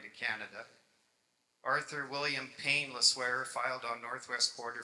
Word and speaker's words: Le Sueur: just start with the Le Sueurs. Le Sueur is actually a Belgian name, I believe, L-E-S-U-E-U-R, but they pronounce it as if there was a W in it, so it's called Le Sueur Creek.